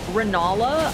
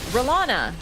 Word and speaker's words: Renala: I, normally, every single time I say Renala, I have to, like, do a second. I'm like, yeah, I said it right. But when I'm like, Relana, no, Renala, like, I have to, like, do a double take every single time.